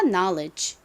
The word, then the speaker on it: knowledge: l e DG 붙어요 다시 한번 설명드리지만 KN이 나아오면 K 묵음으로 소리가 나지 않고 그리고는이 단어에서 예외적으로 오 소리가 아닌 아 소리로 쓰였습니다 그리고이는 여기서 에어이 소리 중이 소리로 쓰였죠 그래서이 단어 발음이 리가 됩니다 knowledge 자 길고 어려운 단어가